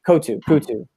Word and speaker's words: Coutu: Coutu. Yeah. Like it rhymes with tutu.